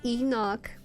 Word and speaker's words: Enoch: It's pronounced Enoch, but a book of the Bible omitted from